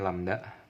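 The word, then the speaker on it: lambda: timbulnya a ada lamda simbolnya ini lamda bacanya lamda ndak oke Ada juga yang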